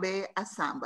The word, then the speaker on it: Ndombet-Assamba: middle name it's not my whole surname is D Assam you don't pronounce the N or okay okay